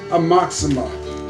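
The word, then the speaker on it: Aoxomoxoa: this is the one amoxima is how i pronounce it everyone pronounces it different i think a-o-x-o-m-o-x-o-a it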